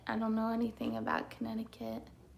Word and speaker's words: Connecticut: I don't know anything about Connecticut. It's pronounced Connecticut.